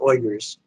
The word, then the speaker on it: Uyghurs: going on every day there are two million uyghurs the correct pronunciation is oyers I know because I heard an oinger say